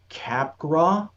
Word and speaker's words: Capgras: a talking cat named Capgra, is how you're supposed to pronounce it. It's spelled like capgrass, but the cat, there's a moment where the cat clarifies it.